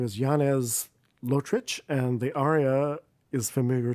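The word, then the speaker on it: Lotrič: name again for me yanez lotrich l-o-t-r-i-c and then it's got one of those u's on the c to give you the chuck yes well i want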